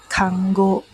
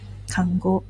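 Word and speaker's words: 看護: is actually also a word okay it's actually pronounced as kango kango okay kango um is a job that is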